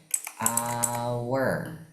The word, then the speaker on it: hour: Kalau yang keenam jawabannya, dilihat dulu cara baca hour itu. Cara bacanya adalah hour. Hour. Dilihat, ternyata hanya itu tidak dibaca, tapi langsung ke hour.